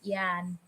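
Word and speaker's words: Jan: how to say yeah the South African John also his name but it's pronounced as Yan oh that's um Friedrich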